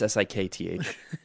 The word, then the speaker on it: Sikth: I thought you were just pronouncing Sixth really weird. No, it's Sikth.